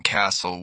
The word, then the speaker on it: castle: Silent T. Listen, castle whistle often.